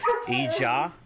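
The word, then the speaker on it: ijaa: If you want to say the words truth, honor, vision, truth is hot, spelled H-A-A-T, honor, ija, spelled I-J-A-A, and vision, ha'it, which is H-A-A, beten, or apostrophe, I-T.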